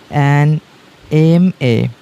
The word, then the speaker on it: MA: আচ্ছা, এই অ্যাব্রিভিয়েশনের যদি প্রথম যে লেটারটা, সেটার উচ্চারণ যদি এ বা আয়ের মতো হয়, সেক্ষেত্রে আমাদেরকে আর্টিকেল অ্যান ব্যবহার করতে হবে। ওকে, for example অ্যান MA। Okay, এম এর মধ্যে কি রয়েছে? এ আসছে।